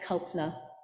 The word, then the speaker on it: Kalpana: that don't know me my name is pronounced copner the second day is silent and cultner is a